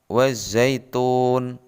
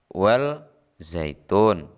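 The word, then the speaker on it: وَالزَّيْتُونِ: contoh berikutnya terdapat pada lafadz wazaitun perhatikan tanda merah ada huruf alif dan lam bertemu dengan huruf Zai atau ZA cara membacanya bukan well zaitun sama huruf alif dan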